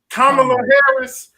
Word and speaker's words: Kamala Harris: Kamala Harris, Senator Harris, whatever you want to call Miss Harris if you're nasty.